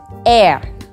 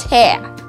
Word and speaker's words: heir: Heir. It's spelled H-E-I-R. So who's an heir? Not hair, not air, it's hair.